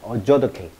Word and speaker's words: adjudicate: adjudicate. 이 T가 묵음입니다.